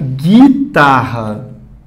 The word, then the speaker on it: guitarra: Olha aqui na palavra guitarra. Esse U não tem pronúncia, não está falando guitarra, você diz guitarra. Você não está falando querer. Esse U aqui não está tendo som.